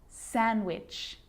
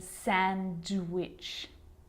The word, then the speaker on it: sandwich: silent to Wednesday handsome sandwich so I'm not pronouncing the D in Sandwich I'm just pronouncing the consonant end sound before it try it with me